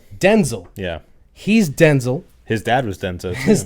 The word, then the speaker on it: Denzel: But his name is actually Denzel, but his mom pronounced it Denzel, so that he could be differentiated from his father, who was Denzel. So he's Denzel Right.